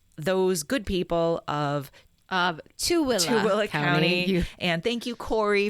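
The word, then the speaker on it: Tooele: our good friends in utah so we were pronouncing the county as thule spelled t-o-o-e-l-e apparently we should have been saying to willa so we apologize to those good people of of two will county and thank you corey for reaching out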